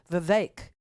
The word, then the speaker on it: Vivek: hard part no no it's the vivec part that's hard because there's an e in it right but they're saying it rhymes with cake the vague and Ron DeSantis had